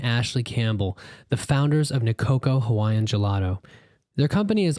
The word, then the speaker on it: Nicoco: For people who don't know you, you are Sean Crowne and your partner, Ashley Campbell, co-founded Nicoco Hawaiian Gelato. Oh, that's right. Did I get all that right? Did I pronounce everything correctly?